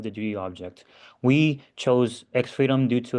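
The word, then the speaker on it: X3DOM: Xstreetum, pronounced as Xfreedom, is an open source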